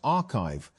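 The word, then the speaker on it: arXiv: Although papers are posted to the site before they are peer-reviewed, ORIV, pronounced archive, has become one of the main ways that research circulates in fields like computer science and math.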